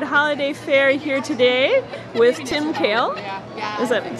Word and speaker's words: Tim Kehl: Okay, well we're at the Fair Trade Holiday Fair here today with Tim Kehl. Is that pronouncing it correctly? Tim Kehl?